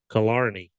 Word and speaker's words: Killarney: Apparently, that is pronounced Killarney. Hmm. Not how I would have said it, but that's it.